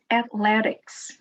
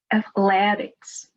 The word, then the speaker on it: athletics: Let's start with the word athletics. Athletics. Athletics. The stress is before the last syllable.